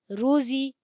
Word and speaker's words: روزی: روزی کو، روزی کو، زا کی ادائیگی آپ نے پڑھ دیا، آپ نے جب ہجے کیے تھے زا صحیح پڑھا، اور جب آپ نے رواں کیا تو زا زال ہو گیا، یہ نہیں، روزی کو، روزی کو، روزی، زا زا ادا کرو سیٹی والا، روزی کو، روزی